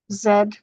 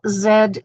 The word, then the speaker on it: Z: oils and for Americans Zed is the last letter of the alphabet only Americans say Z all other englishspeaking countries in the world say Zed okay and I'm Canadian so I say Zed all right so here